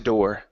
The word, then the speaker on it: door: Watch out for those R sounds. So you don't want to say daw. Okay, you don't want to elongate that Yeah. sound. It's door.